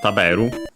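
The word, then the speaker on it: 食べる: The verb on its own is accent on the second to last, as usual, because it's accented. Taberu, to eat.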